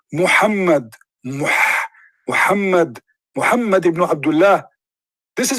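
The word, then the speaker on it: Muhammad: say is how do you say it correctly mohammed mohammed mohammed rasoolallah this is his name what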